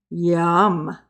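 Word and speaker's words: ים: is yam foreign there so yum yum it's more likely the way to say it and it is spelled yod mem ory gotta get the yaw the y-a-w sound yum Yamin the uh Strong's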